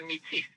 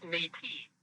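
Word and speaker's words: Métis: with political clout or the Metis mispronounce matey by English speakers the meatiest are part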